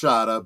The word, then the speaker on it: Shada: It's pronounced Shada, but yes. Shada, okay.